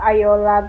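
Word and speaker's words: Ayoola: And we have Ayola, the younger sister and the serial killer.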